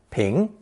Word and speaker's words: 平: Today however it has expanded in scope to become a very common Chinese character pronounced second tone ping.